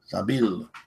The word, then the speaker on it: Sabil: Sabil. The way Sabil. It's helping me say Sabil, even though it's spelled B-I-L. I'm imagining it B-E-L.